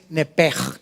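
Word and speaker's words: נפש: Aquí en Génesis 35:18, la palabra hebrea original para alma es nepej. Se escribe nepesh ahorita vamos a ver qué significa.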